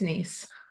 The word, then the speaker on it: Nies: I just want to make sure that I pronounce it correctly. It's Nies.